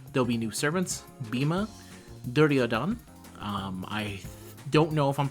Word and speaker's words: Duryodhana: I tried to look up the pronunciation because I was really interested in it. And in the English case, everyone in the pronunciation pronounced the Duryodhana. And then the ones that I saw that were more, I think it was Hindi, they didn't put the A.